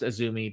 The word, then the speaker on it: AZM: For those that don't know, AZM is Azumi, and it's pronounced Azumi, but it's spelled AZM.